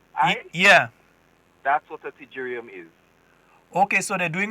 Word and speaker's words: pterygium: Well, I've seen a P before the T, so the P is silent.